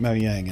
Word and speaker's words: Mojang: yank sounds dumb actually I got into the habit of calling it mo yang and I used to go at Mojang all the time somewhere along the line I decided to pronounce it like the natives pronounce it so it just kind